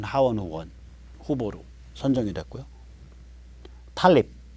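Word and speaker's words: Tlaib: 탈립, 이거 탈립이라고 읽어요.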